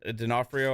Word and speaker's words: D'Onofrio: Like, Kingpin is like Vincent D'Onofrio, I think is how you say his name.